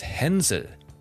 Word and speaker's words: Hänsel: You know, I pronounced the Hansel and Gretel exactly the way, like, English-speaking people like to do so, right? But if you want to be really, like, German fairy tale accurate, it's Hänsel and Gretel, okay?